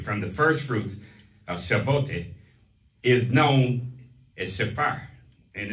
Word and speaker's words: Shavuot: And among the feast of the Lord is pronounced Shavuot. Shavuot mm-hmm.